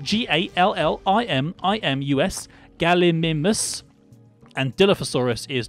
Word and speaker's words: Gallimimus: But Gallimimus is spelled G-A-L-L-I-M-I-M-U-S, Gallimimus.